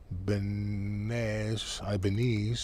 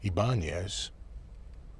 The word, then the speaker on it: Ibanez: So I guess that would be Ibanez, if you're in Europe. Ibanez is the Spanish pronunciation.